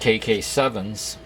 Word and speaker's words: KKSevens: I believe this is pronounced KK7s, but uh correct me if I'm wrong. That's the only way I can think of to pronounce it.